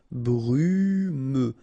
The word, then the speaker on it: brumeux: Okay, final X not pronounced, so you get this E and then U. Brumeux.